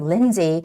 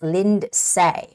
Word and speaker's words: Lindsay: see a name here Lindsay Fay and when we see this word the name Lindsay some might read this as Lind say right linday but actually the word is Lindsay the name is Lindsay and Lindsay Fay and